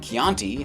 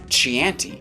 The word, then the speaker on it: Chianti: and fine dining as he keeps mispronouncing the red wine Chianti as "chee-anti".